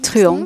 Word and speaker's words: Truong: Je ne sais pas comment ça se prononce. Truong, c'est juste.